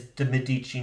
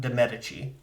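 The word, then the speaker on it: Medici: The the Italian pronunciation is Dadichi, not Demetic.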